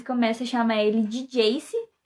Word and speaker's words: Jace: a chamar ele de Jace, que é JC, né, a pronúncia de J e C em inglês.